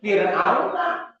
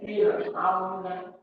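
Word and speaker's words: فرعون: baca Ya biar aja Firaun Quran sama air. Padahal beda cara bacanya. Kalau rnya sukun sebelumnya kasrah maka dibacanya tipis. Wir tempelin sedikit aja. Wa firauna ini wa firauna kasusnya sama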